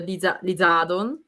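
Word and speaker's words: リザードン: is actually charizard which in japanese it's called the lizadon so lizadon is this lissadon this addon because lizard well it's a lizard right and don is a dragon so these are oh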